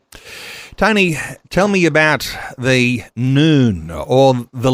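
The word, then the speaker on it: ن: homes and churches with the Arabic letter N it's pronounced noon uh when its Fighters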